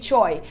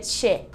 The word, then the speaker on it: Choi: E se escreve Choi, mas se pronuncia Che.